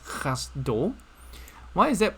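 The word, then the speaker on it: חַסְדּוֹ: over here is not exactly pronounced cassette it's pronounced cast dough why is that pronounced cast dough okay this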